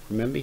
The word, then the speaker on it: renminbi: I find the renminbi. Renminbi, how do you say that?